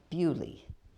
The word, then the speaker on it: Beaulieu: And I remember going to see one that's called, if you pronounce it right, it's Beaulieu, but they call it Bewley.